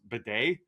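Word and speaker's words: Badie: potentially longer and apparently according to Scott Hansen it's pronounced Beday that's yeah B yeah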